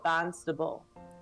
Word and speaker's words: Barnstable: do you say so the town's name it's it's Barnstable but they go barstable and she's like I